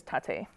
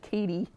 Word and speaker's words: Taté: So this is a 3-part poem, and it starts with, my name is Tate. That's weird. Say it one more time. I thought you said Katie. Is it short for Tatiana? Tater tot. Rhymes with latte.